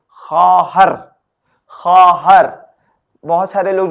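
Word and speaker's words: خواهر: वाव अलिफ हे रे खा हर खहर बहुत सारे लोग जो है ख्वा हर पढ़ते हैं प्लीज ऐसा ना करें ये गलत है ख्वा हर नहीं है खहर है ठीक है मींस अ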